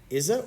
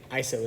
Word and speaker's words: ISO: that affects exposure in a camera is iso izzo izzo izzo iso no it's actually iso is how most people pronounce it iso it used to be called